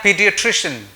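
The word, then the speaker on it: pediatrician: Right, तो मैं बात कर रहा हूं चाइल्ड स्पेशलिस्ट की और इसको हम बोलते हैं पीडियाट्रिशियन। और इसके लिए एक सेंटेंस है, इस सेंटेंस को आप दोहरा के इसकी प्रोनाउंसिएशन को झटके में सीख सकते हैं।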